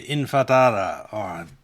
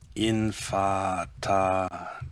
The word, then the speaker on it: Intifada: They were back during the Intifada, What's I'm promising? The Infadada. How do you say Israel? Infadada is Intifada.